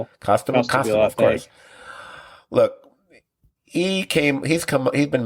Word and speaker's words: Costabile: How do you pronounce his name? Costabile, of course.